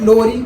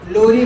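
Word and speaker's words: Lowry: खैर, ब्राउनस्टेड लोरी थे, ब्राउनस्टेड लोरी बोलो, लॉरी बोलो, जो बोलना है बोल लो, प्रोनाउंसिएशन का कोई मसला नहीं है।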